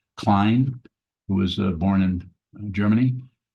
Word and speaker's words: Klein: So a Vedanta teacher who's passed away now, pretty well-known one by the name of Jean, I think it's pronounced Klein, who was born in Germany.